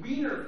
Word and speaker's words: Wien: They were having a Wiener Festival.